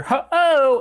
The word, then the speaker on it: Ho-Oh: with Ho-Oh sores overhead I'm pretty sure Ho-Oh is how you're supposed to pronounce that um I've never used